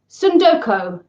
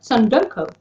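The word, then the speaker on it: tsundoku: butcher this word entirely sundoko sundoko I'm presuming you don't pronounce a t that's at the start of a word that then has an S as the second letter in which case sundoka sundoko which in Japanese means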